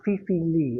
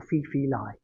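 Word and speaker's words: Fei-Fei Li: by a lady called Fifi Lee or Fifi Lai. Same person, it's just how you pronounce it. The American version's Lee.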